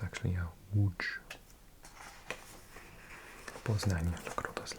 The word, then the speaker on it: Łódź: I think people would pronounce that Łódź. But it's actually a Łódź.